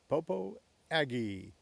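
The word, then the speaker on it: Popo Agie: The mountain men of the early beaver trapping days of the 1800s pronounced the river the Popo Aggie.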